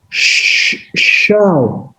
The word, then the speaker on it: Shoah: The Hebrew word so or shoah, S-H-O-A-H, which means in that language a great calamity, and is pronounced as shah or shah, is preferred by many,